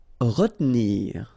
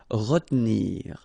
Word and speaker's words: retenir: Okay, so normally in that situation, well, you've got to pronounce this re, okay, but then you don't insist too much on this here, so it goes like retenir, retenir. Attacher.